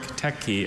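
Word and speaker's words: teke: Mehmed med toured a historic techi and saw the rooms for prayer, study, dining, and sleeping. Techi, the pronunciation does differentiate between those two consonants.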